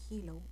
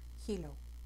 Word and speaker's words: Healow: teléfono vas a escribir la palabra Hello que se escribe H e a L o w va a salir una